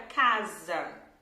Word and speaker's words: casa: Toda letra S entre 2 vogais vai fazer um som de Z, Z, ok? Por exemplo, a palavra casa, né?